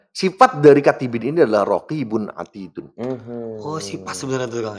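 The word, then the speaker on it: رقيب عتيد: Tidak ada satu kata yang diucapkan pun melainkan di sisinya ada raqibun atidun. Bukan raqibun wa atidun. Bukan. Bukan raqib dan atid bukan. Tapi raqibun atidun.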